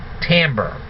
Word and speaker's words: timbre: IM b r e but it's but it's pronounced Tambor so let's imagine that a lumberjack is playing a guitar all right so what is tomber different musical instruments produce different sound waves if